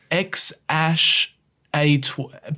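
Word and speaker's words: X Æ A-12: Yeah, Apparently the AE is pronounced Ash. Yeah. So what? It's Ash. X-Ash Archangel, I think, or something like that. X-Ash A12.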